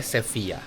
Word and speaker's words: Sevilla: Sevilla, tapi orang sini bacanya Sevilla.